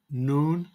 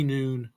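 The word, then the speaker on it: نون: when you say this so noon just like High Noon noon so we've got n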